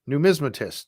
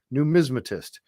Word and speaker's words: numismatist: I love Gary's reaction to those too numismatist numismatist thank you Linda she is she wonderful she's helping me pronounce it numismatist thank you numismatist so Sandy Campbell came out and he looked